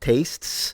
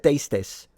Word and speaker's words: tastes: and you learn it I remember I pron mispronounced tastes the third singular of taste I said, "Tastis for so freaking long until a saint,